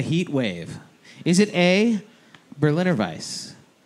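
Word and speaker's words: Berliner Weisse: is not that either it rhymes with edelweiss yes yeah exactly all right what do you think what are you thinking i'm gonna go with it yes it is the berliner vice does brick west dude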